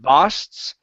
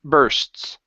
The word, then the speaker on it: bursts: the very beginning with the word bursts instead of basts okay give me an R sound bur bursts burst okay one more